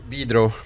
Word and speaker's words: Vidro: Because you were in Sweden with, I always mispronounce it, is it Vidro or Vidro? Vidro. Yeah. It's Brazil, it's Portuguese, actually.